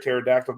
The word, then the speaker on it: pterodactyl: that did you know you can't hear a pterodactyl going to the bathroom because the p is silent you know what I've